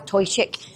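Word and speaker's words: Toiteach: When it's on its own, it means smoky, and it's pronounced as Toichik. When you add words to the end of this one means smoky too. It changes the way that you actually pronounce the first word. So it's not Toichik aga, it's Torshgaga.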